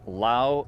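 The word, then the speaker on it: Llao: Up above us over here, this huge rock is known as Lao Rock. It's spelled L-L-A-O.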